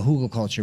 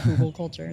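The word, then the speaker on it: Hügelkultur: Every time I have German students, they always like chuckle at my pronunciation of Hugo culture. They're like, it's not how there's an umlaut or something over it.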